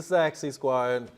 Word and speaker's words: Saxy Squad: because we're on TV it is sexy Squad it is the sexy Squad is the is the a not the E it's just a sexy